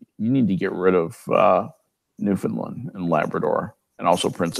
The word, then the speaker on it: Newfoundland: Why is Newfoundland pronounced Newfoundland? It's pronounced like that by idiots. Newfoundland.